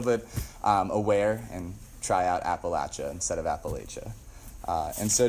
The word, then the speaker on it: Appalachia: Appalachian service project so you might think I've misspoke but Apple a is actually how they say it down there and so I grew up learning it's Appalachia Appalachian Mountains it's at the lacha Appalachian mountain so if you ever go